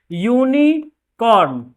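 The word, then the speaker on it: unicorn: यूनिकॉर्न, इसका pronunciation देखिए, यूनिकॉर्न। यूनिकॉर्न consonant का साउंड ले रहा है तो क्या हो जाएगा? ए हो जाएगा।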